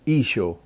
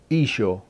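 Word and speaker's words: ܝܫܘܥ: this name came from the name of jesus in the aramaic language is isho can you say it isho it's really very simple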